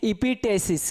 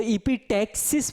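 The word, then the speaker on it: epistaxis: इपिटेसिस। क्या कहेंगे? इपिटेसिस। प्रोनाउंसिएशन देख लीजिए, अगर बिहार बोर्ड वाला पढ़ेगा तो इपिटेक्सिस पढ़ेगा। क्या पढ़ेगा? इपिटेक्सिस। लेकिन अगर सीबीएसई वाला इसी को पढ़ेगा इपिटेसिस। क्या है? इपिटेसिस पढ़ेगा।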